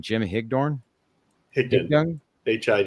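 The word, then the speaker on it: Higdon: We have both Anthony Cognio coming on and as well as uh how do I pronounce his name? Jim Hickdornne.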